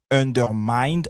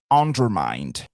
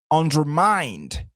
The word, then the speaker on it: undermined: And rules are, et puis on ne dira pas undermined, on dit undermined. Ici, c'est vrai qu'on dit under, donc on serait tenté de dire undermined, mais attention, le stress sera sur la troisième syllabe, effectivement. Donc, ça sera undermined. OK? Et le mind va se prononcer exactement comme mind, the mind.